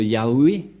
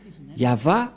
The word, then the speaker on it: Yahvah: C'est pourquoi ils l'ont enlevé de leur Bible, le terme Yahweh, car ça n'existe pas. Yahva is man of war. Je vais traduire en français. Yahva est un vaillant guerrier. C'est un vrai guerrier, c'est-à-dire Yahva est son nom.